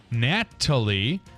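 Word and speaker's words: Gnatalie: the dinosaur is nicknamed natal with a silent G for the gats that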